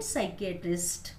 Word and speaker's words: psychiatrist: P is not pronounced in these words. P चा उच्चार या शब्दांमध्ये केला जात नाही. Cupboard, then pneumonia, psychology, coup, and psychiatrist.